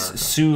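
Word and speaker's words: Soo: canadian american word and s-o-o is sue like the railroad line that's the northern line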